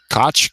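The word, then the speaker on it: Koch: to pronounce his name I think it's I'll say cotch for today like the former mayor of New York City Al I think I might be Coke in this guy's case Koke is the traditional German pronunciation I know a little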